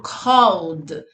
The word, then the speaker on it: called: E esse livro, called. Então, veja que na minha pronúncia, eu não pronunciei esse ezinho aqui, né? Eu saí do L pro D.